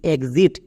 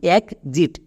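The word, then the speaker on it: exit: X-ray E এক্স আইটি এক্সিট। এখানে কিন্তু এক্স এর জন্য গর্গীয় য সাউন্ড পাচ্ছি। যেমন একজিট এক্সিট নট এক্সিট। এক সিট উচ্চারণ করবো না।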